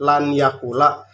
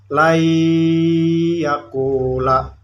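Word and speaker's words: لن يقول: yaqula Lay Enggak langkan ini tulisannya lan yaqula tapi dibacanya lainyya kulak karena non matinya bertemu nun mati ini bertemu dengan huruf Idgham Bighunnah ia tidak boleh dibaca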